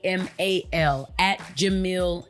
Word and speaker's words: Jamil: party was done by act Jamil not Jamal at Jamil not Jamal and that is spelled Jamila's